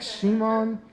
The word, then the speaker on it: Szymon: I have no idea how to spell it phonetically in English, so I just said like Szymon, I don't know. My Starbucks name is Simon, if you forget Szymon.